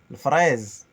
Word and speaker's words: fraise: Le fraise. Le fraise, avec fraise. le R Le roulé. R roulé. Non, on ne dit pas le R, on dit le R. On roule les R, les amis.